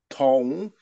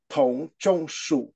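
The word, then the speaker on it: Dong: torture of the thinging D is pronounced like a t so d o n g is pronounced Tong at the third tone Tong why do I take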